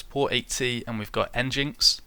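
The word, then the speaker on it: nginx: 80 and we've got engines or engine X uh which I suppose is the correct pronunciation I'm going to keep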